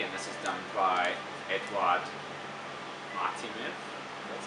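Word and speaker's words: Eduard Artemyev: So yeah, the movie obviously is done by Andrei Tarkovsky, and this is done by Eduard Martinev. That's how you pronounce it.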